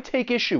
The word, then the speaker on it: take issue: But when you are pronouncing this phrase, keep in mind that we can link the final consonant sound in take with the beginning vowel sound in issue. Take issue.